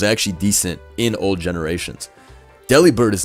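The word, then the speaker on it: Delibird: Did y'all know Deli Bird is pronounced like delivered?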